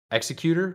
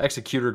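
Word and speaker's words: Xecuter: To recap, Bowser was a salesman for the Team Executor Group. Yeah, that's how you pronounce it. Executor Group, which creates and sells devices that let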